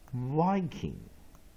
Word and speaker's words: Viking: weak vowel I E， digraph ng as ng Viking again， V I syllable K I N G， main stress first